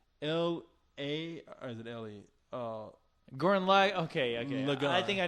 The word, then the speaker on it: Gurren Lagann: Gurren Lagann. Gurren? You ain't never heard of that shit, have you? No. If you're saying it right, Gurren. Gurren, L-A, or is it L-E? Gurren Lagann.